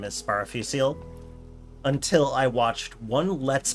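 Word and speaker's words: Sparafucile: um sparophusil's name is sparafucil until i watched one let's player like la la let's place i believe is their name um and uh they said it with the italian pronunciation sparrow futureley and i'm like oh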